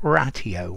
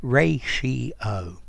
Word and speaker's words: ratio: ratio a countable noun notice the pronunciation not ratio or not to me anyway ray she oh um okay a ratio